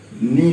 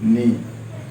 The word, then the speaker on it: knee: घुटना को नी बोला जाता है, KNEE, नी। यहाँ के साइलेंट है इसलिए नी।